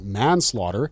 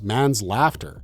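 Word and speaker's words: manslaughter: Dreban Jr., while reading out the crime scene file with an overly dramatic flare, suddenly blurted out, "Mansslaughter, mispronouncing it as man's laughter."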